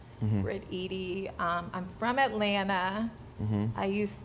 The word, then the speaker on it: Briteady: So I'm Briteady. A lot of people never know how to pronounce it, but think like Edie's ice cream. Briteady.